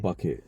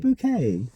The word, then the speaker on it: Bucket: Not Bucket. Not Bucket, Bouquet. It's Bouquet. pronounced Bouquet.